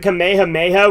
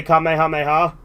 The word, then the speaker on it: Kamehameha: That's one thing that's interesting in Kai, because in Funimation, they pronounce it Kamehameha when they're saying it like that, but in Kai, they actually say Kamehameha.